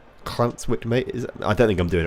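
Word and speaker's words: Llantwit Major: To pronounce the Welsh L, push your tongue to the roof of your mouth and push your breath out. Clantwit Major. Clantwit Major.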